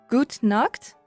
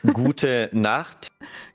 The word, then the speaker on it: gute Nacht: Gut nacht? Well, you basically said good naked. But okay. Wait, can you say it? So there is gute Nacht. Gute Nacht. Nacht is night.